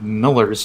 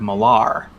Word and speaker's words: Millar: know there's still a lot of people that pronounce for example mark miller's name mark millar oh yeah but it's it's miller yeah yeah